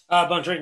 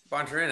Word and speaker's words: Bontorin: Bontorin, yeah. Bontorin, absolutely.